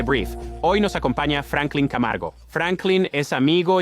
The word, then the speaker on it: Camargo: es, ¿cómo yo, un chico blanco del Bronx, pronuncio tu apellido. Jajaja, lo has dicho bien, Camargo es perfecto.